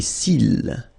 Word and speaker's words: cils: Les cils. Final S not pronounced.